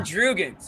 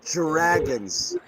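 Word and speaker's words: Jrue: Imagine Drugans. He was good. It's pronounced Dragons with a Dragons with a Dragons, yeah, J-R-A-G.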